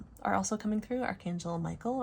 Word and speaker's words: Michael: Archangel Michael, or as I pronounce it, Mikhail, is very strongly coming through with the Ace of Swords.